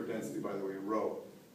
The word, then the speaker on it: rho: by the way a rho it's the Greek letter row that's how you spell it rho so the density